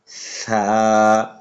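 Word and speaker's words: ثاء: এই হরফটি উচ্চারণ হয় তা তারপর হরফটি আমরা উচ্চারণ করব এই হরফটির নাম হচ্ছে ছামবার আগার সামনে উপরে দুই হাতের আগার সঙ্গে লাগাইয়া ছা তারপর যে হরফটি আছে এই হরফটির নাম হচ্ছে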